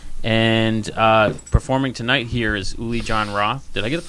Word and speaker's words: Uli Jon Roth: And performing tonight here is Uli Jon Roth. Did I get the pronunciation of that right?